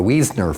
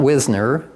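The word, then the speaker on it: Wiesner: a family called weasner the weasner Farm not Wisner like we have whisner Road up there now it's been Mis mispronounced and I get into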